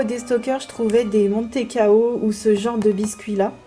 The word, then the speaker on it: mantecao: Donc ça peut se prononcer de plusieurs façons différentes. Écoutez, je vais dire comme la boîte. Moi, j'ai pas l'habitude de dire mantecao, mais plutôt montecao. Mais il y a aussi un D parfois qui s'incruste en plein milieu.